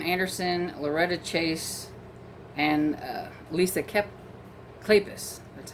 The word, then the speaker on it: Kleypas: Woodowis novel, and this one also features, let's see, Catherine Anderson, Loretta Chase, and Lisa Kleypas.